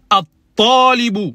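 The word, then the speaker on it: الطالب: On dit at-talibu. Il y a une shedda sur le ta. Et le lam, on ne le prononce pas.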